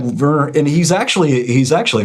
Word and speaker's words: Werner: No, it's No, it's Werner Herzog, yeah. Cuz they pronounce the W with as a V, Werner.